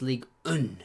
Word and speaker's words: Ligue 1: They're an Oh, in France, yeah, it's actually pronounced Ligue 1.